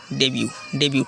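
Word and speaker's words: debut: तो आपके सामने अगला वर्ड है डेब्यू। टी साइलेंट है, डेब्यू का मतलब होता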